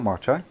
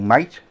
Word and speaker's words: MATE: I quite like Marte, or Mate, depending how you want to pronounce it. Us in England pronounce it Mate, because you're right, mate. But apparently there used to be a little accent above the E, making it a Marte, whatever.